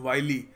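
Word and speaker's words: wily: देखिए अगला शब्द है वाइली वाइली इसको विली नहीं कहते इट इ प्रोनाउंसड वाइली देखिए वाइली का अर्थ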